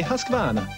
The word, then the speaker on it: Husqvarna: now how to say hispana you say husk like corn bar like varnish without the ish and now like nah I don't want no other